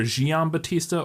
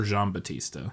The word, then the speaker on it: Giambattista: It's Basile, and then it's like it's either Giambattista or Giambattista.